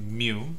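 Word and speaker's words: μ: So Greek symbols will always talk about population, and how do you pronounce this or write it? It'll be mu, and this is x bar, okay?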